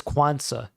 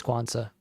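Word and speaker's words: Quansah: at times I think it's quansa I think that's how it's pronounced kevi passes broken down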